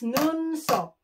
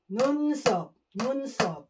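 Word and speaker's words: 눈썹: Eyebrows is Nunsop. N-U-N-S-S-O-B. Nunsop.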